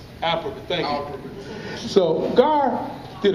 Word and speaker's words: Alperovitz: So we had an economist to come and present to the group, and I always get his last name wrong, Gar Alperovitz. Alperovitz, thank you.